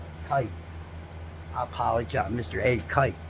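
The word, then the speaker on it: Kight: I always want to say Knight because of the way it's spelled, y'all. It's K-I-G-H-T. It's not K-I-T-E, so it makes me want to say Knight because I'm looking for that N.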